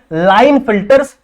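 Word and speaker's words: Klinefelter: इसमें के साइलेंट होता है बच्चों, लेकिन के साइलेंट है तो के लिखना जरूरी है, ठीक है, और इसको पढ़ते क्या है, लाइन फिल्टर्स सिंड्रोम।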